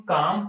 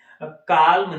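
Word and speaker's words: calm: या काम याद है इसको हम काम पढ़ते हैं काल्म नहीं पढ़ते एल इसमें साइलेंट है अगला है टमस होता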